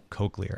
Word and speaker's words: cochlear: could have a good laugh at how I pronounced it with my Midwestern accent but it's cochlear anyway yeah Apple Apple has done a lot